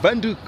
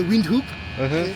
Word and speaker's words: Windhoek: Venduk. Vanuk. Venduk.